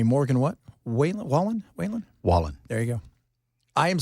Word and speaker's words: Wallen: name for me Morgan what way Wallen Wayan Wallen there you go I am so bad at